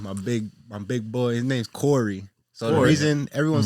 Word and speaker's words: Khary: but at the same time, it's spelled the same, just the A is a O. So it's Corey, you go. Khory.